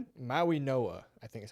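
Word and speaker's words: Mauigoa: Nine, Bengals grab Fisoa, you said. Maui Noah, I think is how you say.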